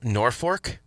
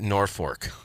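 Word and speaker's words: Norfolk: uh in Nebraska called Norfork? That's spelled N O R F O L K. But they were worried about how that would be said sarcastically, so they pronounce it Norfork.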